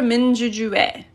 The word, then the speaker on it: 민주주의: So that's also 민주주의 because it's the possessive particle.